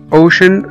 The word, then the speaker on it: ocean: هنا ocean او محيط o c e a n، السي جه بعد منها على طول a a، فنطقنا السي e a كأنهم حرف الشين، ocean، ocean او محيط.